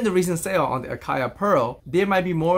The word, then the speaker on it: Acaia: the brand name akaya so as you noticed from the previous videos i have always thought that the pronunciation of the brand was ikea as it turns out it's actually akaya so while i try